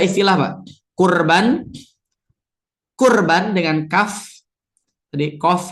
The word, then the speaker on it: kurban: Yang salah adalah korban ya. Korban ya.